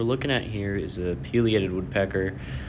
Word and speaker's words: pileated: at here is a pated woodpecker some people pronounce it Pileated but they're wrong so yeah it's a